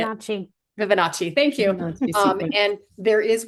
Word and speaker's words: Fibonacci: I'm going to say it wrong, but the Vivaconi, you'll say it. Fibonacci.